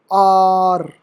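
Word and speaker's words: hour: में आ जाते है the letter H is some time silent इसमें भी बहुत ही रेयर केसेस प मिलते हैं कभी-कभी मिलते हैं जैसे फॉर एग्जांपल आर इसे आवर पढ़ेंगे आवर नहीं पढ़ेंगे आर पढ़ते हैं स्पीकिंग में आर पढ़ते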